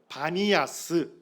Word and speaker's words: 바니아스: 겁니다 그 오늘날 이제 아랍에서는 파 발음이 안 되고 파를 전부 바 발음으로 한대요 그래서 오늘날은 파니아 뭐라 부르는 거예요 바니아스 이렇게 부르는 겁니다 자